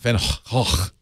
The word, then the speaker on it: van Gogh: Actually not even Gogh. It's Hoch. Hoch? Van Hoch.